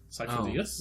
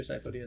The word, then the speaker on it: Sifo-Dyas: Cypher-Dias? Yes, Sifo-Dyas. Master Sifo-Dyas was supposed to be Sido-Dyas, which is a mispronunciation of Sidious, Oh!